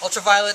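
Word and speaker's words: Ultraviolent: The N is silent. Ultraviolet is a web series starring Violet as probably as one of the most dangerous, kick-ass professional fixers on the planet.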